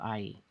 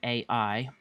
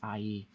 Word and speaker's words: Ai: pronounced more like ie there's the ah sound from the a and e sound from the eye so it's ie and this is just